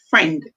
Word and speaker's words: friend: Here, we don't hear the sound for I. We hear E.